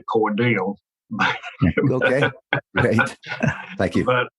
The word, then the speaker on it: Cordele: was a stop in Cordell tell us about Willard king and the discovery he makes I will and um you know down here at South we pronounce things differently it's actually cordial okay great thank you